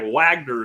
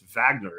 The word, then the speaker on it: Wagner: It looks like Wagner to me, but it's Wagner is how it seems to be pronounced in Russian.